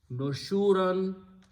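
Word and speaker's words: نشورا: So it will become nushuran. When you pronounce, stop at the ayat, you pronounce nushura.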